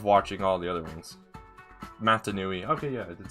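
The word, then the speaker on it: Mata Nui: Matanui.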